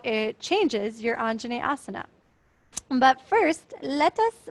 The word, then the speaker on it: Anjaneyasana: how it changes your Anjaneyasana. But first, let us pronounce it. So syllable by syllable, Anjaneyasana, Neyasana, Jane, Anjane, Anjaneyasana, Anjaneyasana, Anjaneyasana.